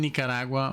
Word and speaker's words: Nicaragua: That's how you say it in if you live in Nicaragua or Nicaragua, you say Nicaragua.